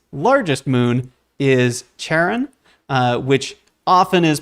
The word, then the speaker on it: Charon: sticks and so the the mythological pronunciation is correct as uh charon the romanticized uh fun way of pronouncing it is sharing so i'll leave that